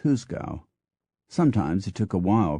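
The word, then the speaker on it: juzgado: g a d o which despite the spelling was pronounced more or less as husa sometimes it took a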